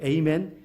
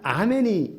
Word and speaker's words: amen: 불려지는 신의 이름으로 기도합니다 a매는 이제 아멘의 영어식 발음이죠 에이맨 알파벳 철자가 amen이니까 n이 남자를 뜻한다 이렇게 생각을 아니잖아 아멘이 에이맨이 그냥 한 단어예요 a1이 그냥 히브리어 그렇게